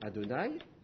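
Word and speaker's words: Adonaï: temps vous allezagramme vous allez le prononcer ad don c'est-à-dire Seigneur sauf si vous avez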